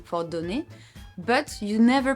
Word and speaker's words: donne: I said je donne. I stopped at the N sound. I didn't say je donnais, je donnu, or what.